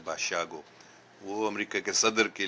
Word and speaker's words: Basiago: Andrew بشیاگو، جس کا نام میں نے پہلے لیا ہے، اس کا نام اینڈرو باشیاگو، BASIAGO، باسیاگو جیسے دکھتا، لیکن اس کا تلفظ ہے باشیاگو.